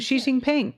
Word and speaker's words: Xi Jinping: discussed between Biden and Xi Jinping. Nope. How do you say? Did I do that right? Xi Jinping. Look at me. All right. Xi Jinping. I got one right.